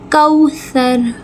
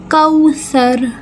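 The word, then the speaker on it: كوثر: तो क्या बन गया? कौसर कौसर सा को नरमी से र को पुर करके वाओ लीन एक अलिफ के बराबर खींचेंगे कौसर यहां पे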